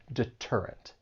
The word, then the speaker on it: deterrent: comes between two vowels, but we are not going to say this with a flap T. And this is because the T comes at the beginning of a stressed syllable. So when the T comes at the beginning of a stress syllable, then you're going to say it as a true T and not a flap T. And that is why you would pronounce this and say deterrent.